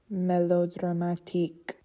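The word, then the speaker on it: mélodramatique: In French, it's melodramatique. In the French language, the stress is on the last syllable.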